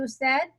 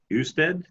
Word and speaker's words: usted: ¿Y usted? Yes. I should have said this. The U is pronounced as a double O.